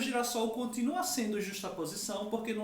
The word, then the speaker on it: girassol: de um S ali, só para manter a pronúncia, porque se eu juntasse sem hífen, colocasse um S só, ficaria girasol. Para manter a pronúncia original do substantivo sol, a gente dobra o S, acrescenta um novo S ali, mas não houve perda.